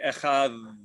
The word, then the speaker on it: echad: except maybe the Yemenites, the way to pronounce it would be echad.